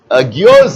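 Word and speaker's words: guyots: Geodes are, you pronounce as geodes, G-U-Y-O-T-S.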